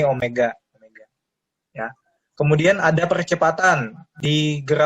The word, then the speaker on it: omega: Ini membacanya omega. Ini kayak W ya, tapi ini bukan W, ini omega.